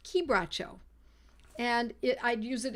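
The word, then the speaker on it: quebracho: it looks like it's qu bro but it's pronounced kbo and it I'd use it in a 30th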